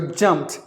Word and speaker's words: jumped: Now just imagine that it is silent and then the T is pronounced like the T. P-T. Jumped.